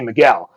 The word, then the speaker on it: Michael: no g in it it's spelled michael but it's portuguese and that's the way it's pronounced according to him and